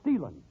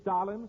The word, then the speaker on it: Stalin: the flash from Marshall stealing Marshall stealing oh no Jim don't you mean Stalin No Stealing I use the Romanian pronunciation you must have been